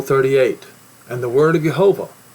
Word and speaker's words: Jehovah: Lord see that or actually it should be said and I have to learn to say it correctly yahovah you see how the the last um um the last part of the word is accented or the last syllable is accented came saying son of